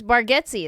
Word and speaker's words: Bargatze: It's Bargatze is how he says it.